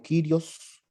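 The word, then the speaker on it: κύριος: una duda sí porque se pronuncia como como kyrios y no como curioso ok cuando la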